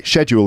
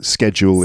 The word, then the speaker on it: schedule: it uh so anyway schedule in brit schedule in American English a kind of metal